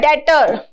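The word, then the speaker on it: debtor: उस लोन को चुकाए वो होता है डे इसमें बी साइलेंट रहता है ठीक है डेटर देने वाला क्रेडिटर लेने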